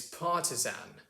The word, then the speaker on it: partisan: difference between our accents the ast ending versus the earth ending that americans like to use so for example uh when we say the word artisan we say artisan and when we say the word partisan it's partisan or for example the